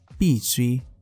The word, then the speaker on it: 必需: Ở trong video này thì chúng ta hãy cùng nhau phân biệt hai từ đọc là bì suy và bì suy.